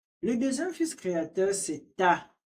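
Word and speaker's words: Ptah: Le deuxième fils créateur, c'est Ta. Le Ta s'écrit P-T-A-H.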